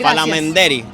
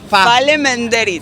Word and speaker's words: Falemenderit: Palamenderi. Es gracias, sí. Es gracias. Ah, Salamanderi. No, Fa. Falemenderit. Falemenderi.